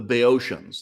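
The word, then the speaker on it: Boeotians: all you know the the bay oceans this is the British pronunciation uh uh I won't attempt the proper ancient Greek pronunciation but like the very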